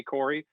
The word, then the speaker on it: Corray: how do you say we say corey at home um the uh y the the a has been taken away from whatever it can be curry in a hurry listen it is all